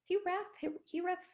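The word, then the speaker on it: hiraeth: There's also an old Welsh word, I think it's pronounced Hireth, and that more describes this feeling of home or a lost place.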